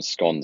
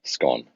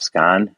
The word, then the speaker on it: scone: kind of thing okay we call them scon here right so s c o n e scone scone scone well you're not even pronouncing it right scan yeah scone yeah you